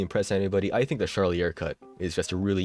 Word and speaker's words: Charlier: That's spelled a Charlie with an R at the end. Charlier, it's French or something like that.